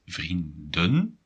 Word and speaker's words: vrienden: And if you have issues with pronunciation, it might be quite tricky to make the distinction between vriendin, female friend, and vrienden, friends. So pay attention to that. It's vrienden and vriendin.